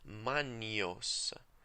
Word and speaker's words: magnos: The letters GN, as in magnos, are pronounced as in NY sound in English. Manios, manios, in the ecclesiastical pronunciation.